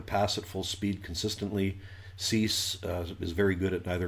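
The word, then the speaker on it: Suess: I think they pronounce it Cease on the broadcasts, but it looks like it really does. It looks like Dr. Seuss to me, because that's exactly how it is spelled.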